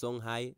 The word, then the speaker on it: Songhai: Many of you, I know that you don't know how to pronounce this word. It's Songhai Empire.